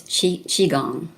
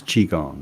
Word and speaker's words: Qigong: I'm just curious, did you have any kind of health issues yourself that got you to, is it properly pronounced Qigong? It's Qigong. It is Qigong.